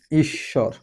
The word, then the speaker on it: ঈশ্বর: ওকে খেয়াল করি এখানে আমাদের বফলা কোথায় ছিল? মাঝে ছিল। এবং আমাদের কি যথারীতি বফলার উচ্চারণ হয় নাই। কিন্তু আমাদের যার সাথে ব যুক্ত আছে স এর সাথে সেই স আমাদের ডাবল হয়ে গেছে অর্থাৎ দীপ্ত হয়ে গেছে।